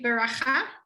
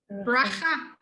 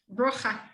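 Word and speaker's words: ברכה: How do you say actually beracha? Bracha. Brocha. But you'll learn that. Your brain will know. It says beracha, but it actually wants you to say bracha.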